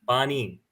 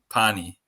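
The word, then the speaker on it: पानी: is named Water, and Cooper pronounced it like a town in Indiana the whole time, but it's fine. Bonnie. Yeah, can you give us the correct pronunciation? Bonnie. Pani.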